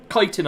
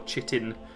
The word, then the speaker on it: chitin: um not bone mold kiten armor kitan armor I'm a fan of or chitin however you want to pronounce it that one I kind